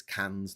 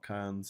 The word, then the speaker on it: Cairns: In the same way that it's Cairns, not Cairns.